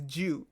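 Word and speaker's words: 九: 9 is pronounced as Jiu, Jiu, which also means long lasting.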